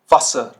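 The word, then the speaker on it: Wasser: तो इसका जो प्रोनाउंसिएशन होगा ये आपको शॉर्ट रखना होगा, शॉर्ट। पिछली स्लाइड में था आपका लेंदी, तो ये शॉर्ट रखना होगा। zum Beispiel मन, मन, कॉमन, कॉमन, वासर, वासर।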